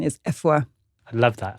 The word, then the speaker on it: Afua: So yes, over time, I just started introducing myself as Afua, whereas actually the proper Ghanaian pronunciation is Afua. I love that. It's like between an A and an E.